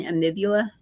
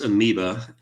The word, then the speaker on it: amoeba: to worry about the brain eating amula I think it's pronounced amoeba and amoeba sorry no no the